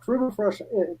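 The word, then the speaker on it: Krümelfrosch: And then Aegis Nova, Cocos PT, and Krummelfrosch United, and Rinyon Verde. Not bad. You pronounce it pretty good there with the U with the 2 dots. That's Krummelfrosch, pretty nice.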